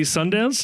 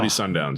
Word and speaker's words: Sundowns: team, the uh Maloi Sundance. They pronounce the Sundance. Model Sundowns. Yes. Sundowns FC.